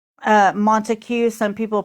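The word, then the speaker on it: Montague: Say uh Montue. Some people pronounce it Monte County.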